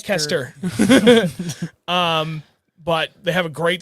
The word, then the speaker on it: Leicester: They're down in Leicester, Mass, which does not spell like the way it's pronounced. Leicester.